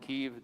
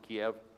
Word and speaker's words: Kyiv: Please pronounce it Kyiv. Don't pronounce it Kiev. That's the way the Russians pronounce it.